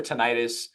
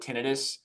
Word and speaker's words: tinnitus: First of all, pronounced tinnitus or tinnitus. Typically, clinicians will call it tinnitus.